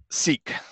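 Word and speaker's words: Szeak: It's an interesting name, S-Z-E-A-K. How do you say that? Seek.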